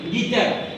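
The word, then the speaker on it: guitar: ইউ এর পরে আই ভাউ রয়েছে ইউর উচ্চারণ সাইলেন্ট থাকবে গিটার গিটার অর্থ গিটার পরের শব্দটি এখানে দেখতে পাচ্ছেন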